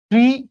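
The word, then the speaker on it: Thoreau: বলা আছে Henry David থর এই শব্দটার উচ্চারণ যেরকমই হোক দেখতে যেরকমই লাগুক ইউরেইউ দেখতে লাগুক বাট বসের নাম ছিল থর হেনরি ডেভিড থর হেনরি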